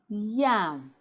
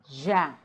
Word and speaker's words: yam: So the next time you hear somebody saying jam, when they mean to say yam, tell them politely, excuse me, it's pronounced yam, not jam.